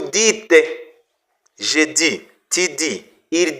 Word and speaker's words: dites: vous dites ils disent à n'est pas prononcer vous disez non non non c'est vous dites je dis tu dis